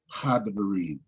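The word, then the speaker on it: הדברים: So the first Shiwa is going to be vocal. And the second Shiwa, if it was there, you just have to imagine that it was a second one there. So that's how you get Hadebarim.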